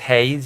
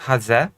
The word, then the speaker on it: Haze: It's not pronounced Hayes, it's pronounced Haze.